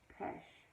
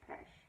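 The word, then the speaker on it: Pêche: it in the color pesh like mesh yeah PES sorry I'm trying to remember what you guys told me cuz I asked if you would phonetically spell it out and you guys did that you are you all are fabulous so if I'm saying it correct it's pesh but it looks like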